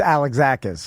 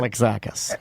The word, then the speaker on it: Alexakis: It's Alexakis. Right? Alexakis.